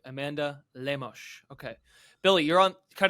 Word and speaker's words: Lemos: is it it's it's I believe it's lemosh it's you know it's the Brazilian pronunciation so throw a little Portuguese uh heat on there sorry Amanda I'm trying